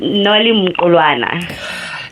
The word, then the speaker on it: Mqulwana: Nolly, whose last name I'm going to pronounce probably wrong, is Nolly Mqulwana. Nolly, is that right, or would you like to correct me? It's Nolly Mqulwana. Definitely a hard pronunciation for me.